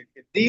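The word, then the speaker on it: the: सर एक general सा question है सिंपल सा कन्फ्यूजन है से दी और द का क्या चक्कर है प्रोनाउंस करते हैं दी और द ये ना दोनों राइट है दोनों रोंग नहीं है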